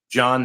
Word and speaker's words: John: John, the H is silent.